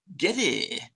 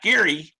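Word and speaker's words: Geddy: Getty. Not Gary. Get. Backstory to that. His name was Gary, but his mother's accent was so heavy, she pronounced it Getty.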